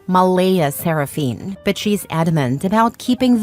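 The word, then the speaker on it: Mleigh Seraphynne: yes spelled exactly like that Claire insists it's pronounced Mala seraphine but she's adamant about keeping the creative spelling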